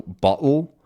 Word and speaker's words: bottle: Another great one is words ending in sort of like an ul sound, right? So bottle, So bottle is pretty common to hear, especially in American English. Bottle, bottle, which is b, a, d. It's sort of this tapped D sound.